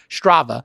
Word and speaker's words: Strava: Is it Strava? How you pronounce it? Strava. Yes.